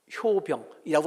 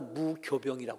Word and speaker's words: 무교병: 넣는 빵을 말할 때는요, 무효병이라고 안 하고 무교병이라고 그래요. 이게 우리나라에서만 그런 말을 쓰는지 중국말도 그런 발음을 바뀌어지는지 모르지만, 하여튼 이 효자와 똑같이 교라고 발음을 해요.